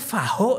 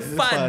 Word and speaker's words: Fahd: Dia nanya, namanya Faho ini katanya. Jadi bukan, itu Fad katanya.